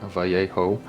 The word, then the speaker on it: Vallejo: us Americans would say because we don't pronounce Vallejo right vjo the vjo liquid mask